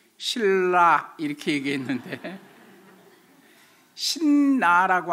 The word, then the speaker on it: 신라: 썼으면 틀니 신 겁니다 표준 발음법 제 20 판매 보면 미운 받침이 그 다음에 비율 좀 자음 하고 만나면 앞에 미음 같이 미 발음이 이은 으로 발음 되지 않고 뒤에 이 으레 영향을 받아서 리얼로 바뀐답니다 글씨 쓰는 건 그냥 미음 받침으로 신 이라고 쓰지만 읽을 때는 그건 신나 이렇게 금은 틀린거 고 신라 일으키 거야 맞는다는 거에요 그게 우리나라